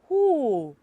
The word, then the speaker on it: who: and for number four who who what is silent in that word it is what it is w okay and the last